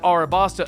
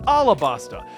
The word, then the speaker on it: Alabasta: are very fun so basically I called it arabasta in a tweet I was told that it's properly pronounced alabasta in the manga it's spelled alabasta but people